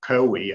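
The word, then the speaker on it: COWI: that our company uh kowi as we pronounce it in denmark uh is perhaps not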